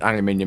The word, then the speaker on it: aluminum: I I it's just you can't deny the truth that aluminum it's the correct way to pronounce the word and I'm gonna I'm